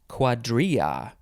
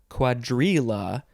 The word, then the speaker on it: cuadrilla: in this episode is quadria or quadrila if you want to put that l sound in there but that's not the right way to say it i mean it's a